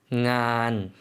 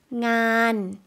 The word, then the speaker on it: งาน: งาน 요거 한국 분들이 조금 어려워하실 수가 있을 것 같아요. NG 발음이 초자음으로 나오거든요. 다시 한 번만 들어볼게요. งาน 일, 업무라는 명사였고요.